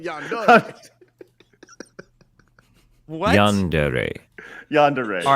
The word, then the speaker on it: yandere: have breaking news I know exactly how to pronounce it here it is oh God has Google told you YouTube told me listen yandere yandere y yand tell us no there not